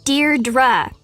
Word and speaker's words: Deirdre: or something hi Deirdre I know it's got that tricky second syllable but I figured it out by age two don't give up you'll